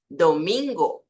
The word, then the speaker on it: domingo: muito comum que viri no espanhol não tem essa mudança então a pronúncia aqui do dia da semana é domingo domingo sempre o domingo aqui tenemos oosso nka